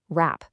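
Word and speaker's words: wrap: If a written word starts with WR, that W is totally silent. Right, wrong, rap.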